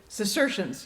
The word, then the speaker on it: Cistercians: I think I may be mispronouncing that. The Cistercians. I don't know how do you pronounce that, Fitz? Cistercians.